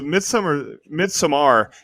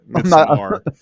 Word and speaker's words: Midsommar: So Midsommar is actually how Ari Aster pronounces it. Midsommar.